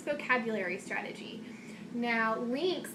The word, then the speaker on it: LINCS: today is called the lynx vocabulary strategy now links is an acronym and it's spelled l-i-n-c-s now first link else